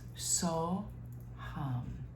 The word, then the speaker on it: So Hum: And it's 2 syllables, so, hum.